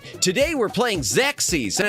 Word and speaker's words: Xexyz: I My parents, everyone in my family, they always thought it was pronounced XEXYZ.